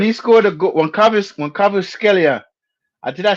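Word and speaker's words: Kvaratskhelia: Yo, when he scored a goal, when Cavuskelia, did I say his name right? Yeah. Cavuskelia.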